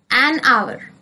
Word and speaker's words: hour: She took an hour to get ready for school. Here, hour starts with consonant but it sounds vowel. Hour sounds with O. H is silent. So, an hour.